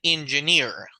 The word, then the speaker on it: engineer: he says I'm an engineer that's how we pronounce it it's at the back of the of the word that you stressed I work for a